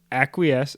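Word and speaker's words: acquiesce: it means to uh it is a verb that is pronounced acques I'm not going to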